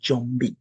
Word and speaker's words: Jumbie: the Kikongo language, and it's sometimes pronounced as zombie. So you will hear maybe Jamaicans talking about zombies and other people, but we say Jumbie.